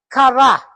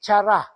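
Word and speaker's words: χαρά: chara char po kaayo so that is the pronunciation of the word is kara dili chara no that is also where we get caris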